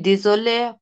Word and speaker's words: désolé: Je suis désolé pour mon retard. এটা দিজলে না, এটা দেজলে। Désolé.